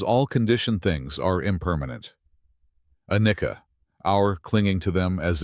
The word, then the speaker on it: anicca: In Pali, this truth is called anicca, pronounced anicca.